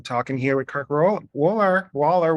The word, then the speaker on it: Woller: here with kirk or waller waller i keep saying your name wrong sorry it's okay just think of the wall and then yes thank